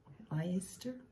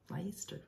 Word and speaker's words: Leicester: It's got blue-faced Leicester? Leicester. It's Leicester, isn't it? Oh, Leicester? I think I have heard it pronounced like that.